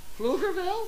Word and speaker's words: Pflugerville: get yes I have it how do you pronounce the town she lives in pflugerville pflugerville pflugerville the only reason i knew that is